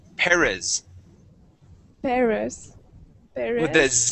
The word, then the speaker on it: Perez: You said Perez. Okay, Yes. let's practice saying a Z in English. Okay, we say Perez Perez.